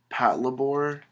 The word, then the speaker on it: Patlabor: the series is called mobile police patlabor I believe is how that's pronounced but here's issue number